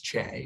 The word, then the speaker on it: CHE: health and the environment which we often abbreviate as che or pronounces che and so together che